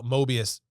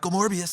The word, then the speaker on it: Morbius: Uh Mobius I keep I always say Morbius Mobius backwards Morbius. I said it right the first time. Morbius.